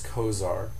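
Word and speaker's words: Cozaar: And the brand name for Lartan is Kosar.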